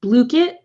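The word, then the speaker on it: Blooket: It's Blookit.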